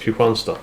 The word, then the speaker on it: Kristianstad: across Scania and takes Kristianstad, alternatively pronounced Kristianstad if you're a local, which I am.